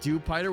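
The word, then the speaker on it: Dewpider: I learned that Dupider was pronounced as it rhymes with Jupiter.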